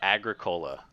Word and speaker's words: Agricola: the grick not the grick it is uh Agricola yeah oh okay all right you say it wrong if you pronounce the Greek yes okay of course get